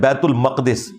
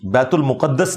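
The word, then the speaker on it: بيت المقدس: ये लफ्ज़ है बैतुल मक़दिस, बैतुल मुक़द्दस लफ्ज़ नहीं है, बैतुल मक़दिस इसकी ट्रू प्रोनाउंसिएशन है।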